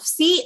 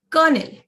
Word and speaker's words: colonel: Sneha has asked me what the pronunciation of colonel or any L would be. It would be colonel, not colonel, colonel, right?